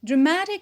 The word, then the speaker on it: dramatic: Dramatic is an adjective. We stress it. So what is the stressed syllable? It is the penult, ma, because of the suffix ik, which is a stress shifting suffix.